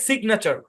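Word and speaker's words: signature: অংশের উচ্চারণ না আর এই অংশের উচ্চারণ চার পুরোটা মিলে সিগনেচার সিগনেচার সিগনেচার মানে কি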